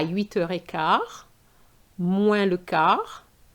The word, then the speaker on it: moins: The moins is not moins, but moins. The S is silent.